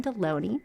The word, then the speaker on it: Delony: Am I pronouncing your name right? Yes, Deloney? It rhymes with a lunch meat.